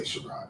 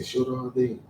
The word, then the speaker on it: Sharrode: They don't say Sharrode. They say Sharrode.